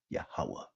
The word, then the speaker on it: Yahweh: In the Hebrew tongue, his name is pronounced Yahweh, he is.